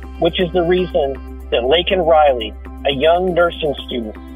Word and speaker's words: Laken: And when he did mention Laken Riley's name, he mispronounced her name, calling her Lincoln Riley.